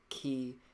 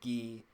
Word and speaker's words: qi: translate to breath and it's pronounced chi even though it's spelled q-i it can also be spelled c-h-i it can be pronounced ki or gi it can be known